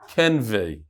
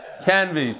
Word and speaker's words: Canvey: It says pronounce Kuf Ayin Nun Vav Vav Yud. Kenvei. You could say whatever you want. That's not how he says to pronounce. Canvey. Tuli from Canvey Island.